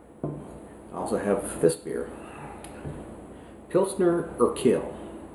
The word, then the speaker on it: Pilsner Urquell: also have this beer pilsner or kale if that's the correct way to pronounce it i'm not sure you are q-u-e-l-l this is a czech